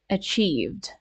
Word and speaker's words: achieved: in this word right achieved right because I think I did not make the sound e long enough so that might have